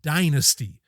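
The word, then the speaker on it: Dynazty: to recommend this and the band is Dynasty now it it's kind of spelled like dasty it's d y n a zty y and I'm pretty sure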